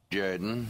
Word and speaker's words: Jordan: the Auburn Tigers say no no it's pronounced Jorden yes yes yes this